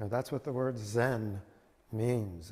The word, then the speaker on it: Zen: that's what the word zen means it's the japanese pronunciation of the sanskrit where uh jiana d-h-y-n-a and uh koreans are pronounced uh son and they're following you know the chinese pronunciation both of them but